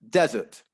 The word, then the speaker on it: desert: the the first word then the stress would actually be on the first syllable desert that's a place uh in egypt or in in africa or you know in parts of the world where there's lots of sand desert however if we stress the second syllable dessert then suddenly we have